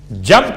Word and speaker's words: جنب: اور بھی، وَجَنبِهِ الْعَلِي۔ جنب کسے کہتے ہیں؟ جیم نون بے، چونکہ تجوید کے قاعدے کے لحاظ سے آپ کو تلفظ میں میم کی آواز محسوس ہوگی، جنب، حالانکہ جنب ہے۔ اس کا ترجمہ کیا ہے؟